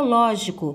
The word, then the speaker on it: lógico: Depois eu tenho a palavra lógico. Pronunciem a palavra lógico. Ao pronunciar a palavra, vocês vão observar que o ló é a sílaba tônica.